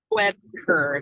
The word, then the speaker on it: Wuebker: Webker. So imagine the U being silent and just pronounce it Webker, but it's Wuebker.